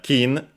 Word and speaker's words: 巾: on its own uh kin accented on the first one but on the second